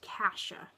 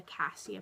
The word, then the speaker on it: Cassia: It's a beautiful name, and in Europe, it can be pronounced Cassia, which I'm not crazy about. I definitely prefer the Cassia pronunciation.